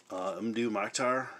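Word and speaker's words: Mdou Moctar: definitely something I enjoy another recent purchase more new Moctar see I'm pronouncing it right again this is a black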